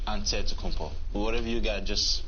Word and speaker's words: Antetokounmpo: you pronounce it way you gotta say with the d so it's a deadpool but in the greek way you say with the nt like antetokounmpo whatever you got just